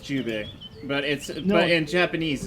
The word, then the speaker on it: Jubei: It's pronounced Jubei, but No.